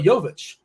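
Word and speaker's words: Jović: in the offseason Nikola it's important you pronounce this correctly because people can get excited Nikola yovich uh is it's been added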